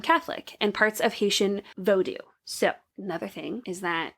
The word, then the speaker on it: Vodou: And so Haitian, when I was watching this video, he pronounced it as Vodou, which is Vodou instead of the voodoo that we're used to.